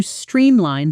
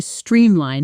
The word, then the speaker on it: streamline: We managed to streamline the approval process. Notice the pronunciation here. The stress is even and clear on both parts of the word.